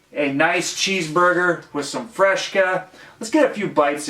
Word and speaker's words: Fresca: we go established 1966 Fresca I think I'm pronouncing that right Fresca not fresh cut there's no h but us midwesterners we